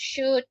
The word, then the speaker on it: should: Now, something just to remember when we have these words should, could, would, it has that L. L is silent.